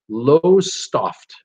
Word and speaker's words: Lowestoft: She says, I'm on the East Coast, a port town called, and it looks like it's pronounced Lowestoft, L-O-W-E-S-T-O-F-T, Lowestoft is how I'm going to say it.